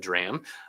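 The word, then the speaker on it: drachm: What's called the drram spelled D R A chm but said drram uh you know I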